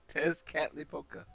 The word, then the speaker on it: Tezcatlipoca: It's actually pronounced the way it's spelled. Tezcatlipoca.